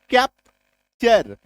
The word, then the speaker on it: capture: CAPTURE, कैप्चर। POSTURE, टी के बाद URE, पॉस्चर। Clear हुआ। टी के बाद जैसे ही URE आ जाए तो आपको समझ लेना है कि यहां पे टी का उच्चारण च होगा, माय डियर फ्रेंड, है ना।